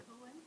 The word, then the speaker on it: Cohen: How to pronounce Cohen? Cohen?